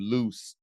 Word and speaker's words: Luce: last few years a film named loose it's spelled Luce if you have not